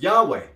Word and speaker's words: Yahweh: go family let's go the scholarly consensus is that the original pronunciation of the T Graton was Yahweh Yahweh Yahweh Yahweh RR Reno agrees